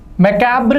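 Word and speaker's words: macabre: मैकाब्र का मतलब होता है दोस्तों भयावह। क्या है इसका उच्चारण, मकाब्र, भयावह।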